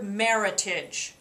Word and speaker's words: Meritage: look for the word Meritage rhymes with Heritage that is a blend